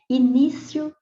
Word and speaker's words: início: sílaba mais forte e se você pronunciar devagar a palavra início você vai ver que a sílaba tônica é a penúltima Então ela é paroxítona